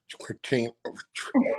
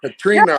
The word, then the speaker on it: Katrina: I done slaughtered your name already. You know what? God, that's bad when you just start the interview. You can't even pronounce the name right. You're Katrina, right? okay. Katrina, right? Katrina, yes. Okay.